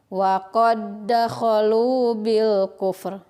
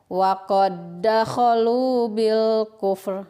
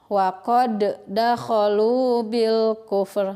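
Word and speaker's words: وَقَدْ دَخَلُوا بِالْكُفْرِ: Jadi cara membacanya langsung saja dimasukkan ke huruf yang kedua dan ditekan. Cara membacanya seperti ini. Wa qad dakhalu bil kufr. Nah, gitu ya. Wa qad dakhalu bil kufr. Itu. Pengucapan yang salah. Wa qad dakhalu bil kufr. Nah, itu salah ya. Nah, seperti itu dipantulkan, tidak boleh.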